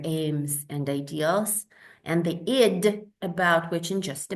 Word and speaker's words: id: And then we have the id. In German, it simply says das Es, the it, the that, id. Not ID, please. People keep calling it ID, but it's id. That's how you pronounce it.